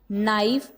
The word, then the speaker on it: knife: So first of all, for example, not, knife and knee. These are the words. Here is the K is a silent letter.